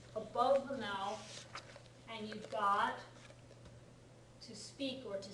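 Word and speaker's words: 五: the number five and five is pronounced go right the pronunciation is go anyone know a word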